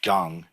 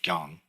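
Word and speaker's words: 경: So Shim Gyong, when we say Maha Banya Baramilta Shim Gyong, it's Shim, and this is pronounced Gyong. Koreans pronounce this Gyong.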